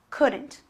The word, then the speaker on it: couldn't: Acuérdense que la L no se pronuncia. La N de not, el apóstrofe que va a reemplazar a la O y la T final. Couldn't.